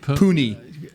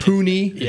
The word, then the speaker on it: Cunha: on that spot so the correct pronunciation is Derrick Cunha hapana Hootie Hoonie this is not Pune certainly not puny you don't want to